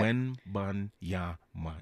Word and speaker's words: Wembanyama: The pronouncing of the yam, though, was yam. Say it again. Victor Wembanyama. Yama. Okay. Wembanyama. Easy.